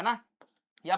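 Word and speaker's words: knew: है ना? या पता होना। तो नो की सेकंड फॉर्म क्या होती है? न्यू। क्योंकि के साइलेंट होता है तो उसको न्यू पढ़ते हैं।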